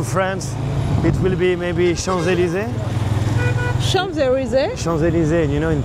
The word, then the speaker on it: Champs-Élysées: to France, it will be maybe Champs-Élysées.